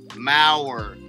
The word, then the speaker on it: Maurer: So if you have time and you're so inclined, D-I-L-L-O-N, Maurer, rhymes with power, M-A-U-R-E-R.